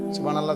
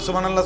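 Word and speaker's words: سبحان الله: হা গোল হা যেটারে ছোট হা এটা পূর্ণ উচ্চারণ হইতে হবে। আপনি দি কন সুবহানাল্লাহ সুবহানাল্লাহ সুবহানাল্লাহ। সুবহানাল্লাহ তো কোন শব্দ না। শব্দ তো এটা না। শব্দ তো হইলো সুবহানাল্লাহ।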